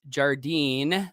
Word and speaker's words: Jardine: Sean Sean uh says Jardine I said that right right rhymes with sardine you help me pronounce